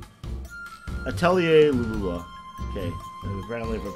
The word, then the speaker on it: Atelier Lulua: It's about it's based off the French word for alchemy.